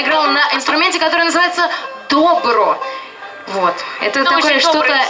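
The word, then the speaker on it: Dobro: Обратите внимание, что «Добро» пишется как «Добро», только ударение на другой слог.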